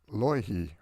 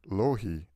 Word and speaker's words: Loihi: This island that's growing underneath the ocean is called Loihi, or Lohi. It's spelled L-O-I-H-I.